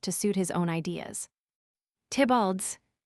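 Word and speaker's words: Theobald: Tibald's Lewis Theabald pronounced Tibald a scholar who had attacked Pope's addition of Shakespeare.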